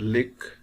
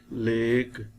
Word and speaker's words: lake: It should not be pronounced as lick. It is lake.